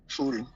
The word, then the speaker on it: शूल: ऐशान्याम शूलधारिणी शूल दीर्घ उकार शूल शूलधारिणी ऊर्ध्वं ब्रह्मणि में रक्षे धस्ताद् वैष्णवी तथा।